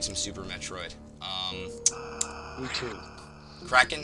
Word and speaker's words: Krakhan: We got you here, Krakhan. Is that how you pronounce it, by the way? Pardon? Is that how you pronounce it, Krakhan? Yep, that is indeed correct.